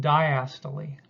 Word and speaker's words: diastole: see up here this is pronounced diastole which is just a